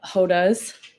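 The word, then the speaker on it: roda: the Bay Area that have hodas which is spelled r o da and just means Circle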